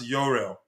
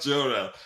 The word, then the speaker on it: Jorrel: It's spelled with a J. The spelling starts with a J and learned last night that it's pronounced Yuriel, not not Jorel.